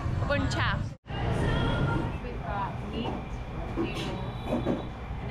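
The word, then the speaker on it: bún chả: Now we're going to go try some food we haven't tried before, which is pronounced bun cha.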